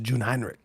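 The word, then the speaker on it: Jungheinrich: So, it's actually it's actually pronounced Jun Hinrich. Uh, Jun Hinrich ETV 216i.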